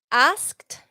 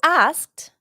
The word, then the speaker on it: asked: Just see in your mind A-S-K-T and then pronounce, say every letter. Asked. Asked. Es así. You don't hear the D sound.